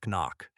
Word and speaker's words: NOC: No C pronounced knock.